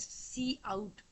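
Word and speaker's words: cout: सी आउट pronounce as सी आउट, ठीक है, सी आउट की प्रोनाउंसिएशन से निकला ये word, is an object use together with the इंजर्शन operation.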